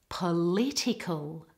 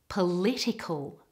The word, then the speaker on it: political: in the first word the emphasis and stress should all be on the second syllable ready political political and the next word